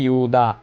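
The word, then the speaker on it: যুধা: এখানে লেখা আছে যুদা, এখানে আমরা বলবো ইউদা, মন্যুশ্চ, ইউদা মন্যুশ্চ বিক্রান্ত, আমরা বলবো বিক্রান্ত, উত্ত মৌজাশ্চ, উত্ত মৌজাশ্চ বীর্যবান, এখানেও একইভাবে উচ্চারণ হবে।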